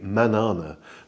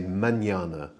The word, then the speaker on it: mañana: So if that wasn't there, it would be manana. But because it's there, we say mañana. You sort of put a Y in after the N effectively.